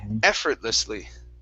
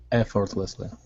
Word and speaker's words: effortlessly: this is effortlessly so the stress is at the very beginning effortlessly effortlessly effortlessly great all right nice job